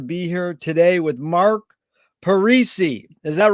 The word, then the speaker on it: Parisi: a pleasure to be here today with mark parisi is that right mark that's correct perfect no one has ever pronounced it that perfectly uh where in the